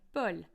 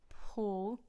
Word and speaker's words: Paul: beginning of a syllable now you get this in Paul a lot of an audible release of air happens on the p and you don't get that in the French version bull Paul bull it's also in